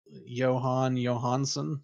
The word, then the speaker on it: Jóhann Jóhannsson: Um Jóhann Jóhannsson, is that how you say his name?